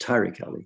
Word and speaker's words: Tariq Ali: Tariq Ali, who no doubt you'll be familiar with. Normally pronounced Tariq Ali.